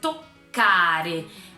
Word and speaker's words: toccare: novo lembra da pronúncia toccare você faz o tô um pouquinho menorzinho mas rapidinho meio engolido aquela a sílaba e o carro um pouquinho mais forte pronunciado mais forte com mais enfim é nesse cárie tocar